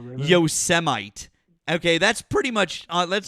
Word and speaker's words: Yosemite: And Donald Trump pronounced Yosemite Yosemite.